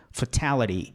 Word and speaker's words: fatality: Fatality. Fatality. Fatality. Posso falar. Mas esse T aqui você pode mudá-lo. Fatality ou fatality. Porque ele não é forte. Agora esse T aqui é a sílaba forte.